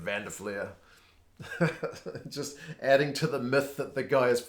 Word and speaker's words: Van der Flier: Van Der Fleer and I love it that Matt Pierce the South African commentator uh pronounces Vander fleer's name like a South African would pronounce his name I guess that kind of makes sense because Matt Pierce is Africa calls him fun fun to flare right instead of Van de FLIR just adding to the